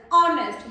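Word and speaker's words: honest: करते हैं हम इसको that is नॉट नेस्ट that is ऑनेस्ट यहां पे एच साइलेंट रहता है ओ की साउंड ऑनेस्ट मैंने बताया था आप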